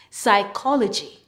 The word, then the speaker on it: psychology: When you see PS in a word, the P is silent. PS says S.